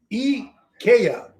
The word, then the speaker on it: IKEA: e kia e e a a h it's e kaya so it's actually e e k a y